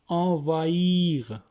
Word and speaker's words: envahir: envahir एच जो है silent है इसमें, to take over, to overrun, कब्जा करना, envahir, établir to establish, to